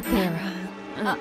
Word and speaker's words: Tara: Y se pronuncia Tara.